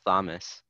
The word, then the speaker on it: Thomas: Thomas the Tank Engine it's just Thomas the H is silent because English does many things and names just names like that is it's it's Thomas